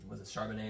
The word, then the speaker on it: Charbonnet: They have really good young running backs between Charbonnet, is how you say that, Kenneth Walker.